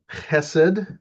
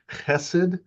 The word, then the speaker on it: chesed: Um, the word, it's chesed. It's a rough, gravelly H sound at the beginning, chesed.